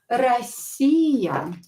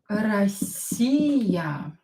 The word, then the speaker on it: Россия: Россия. Россия. Again, O, not stressed, pronounce it as A.